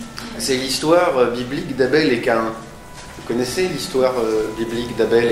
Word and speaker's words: Caïn: qui va m'intéresser, c'est l'histoire biblique d'Abel et Caïn. Vous connaissez l'histoire biblique d'Abel et Caïn?